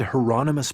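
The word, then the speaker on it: Hieronymus: You said heronomous Bosch, like the painter. The second question confused him. I don't know anything about any painter, but that's his name. Rhymes with anonymous, I was told.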